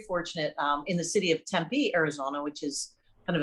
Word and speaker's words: Tempe: i learned very important things one that it's pronounced tempe don't you don't you know don't mess that